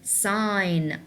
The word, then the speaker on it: sign: Since we have G and N beside each other, we will not pronounce the G. That's gonna be silent, so it's gonna be sign, sign, sign, and the